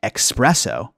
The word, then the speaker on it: espresso: and it's interesting because many people hear the alleged mispronunciation expresso but those people may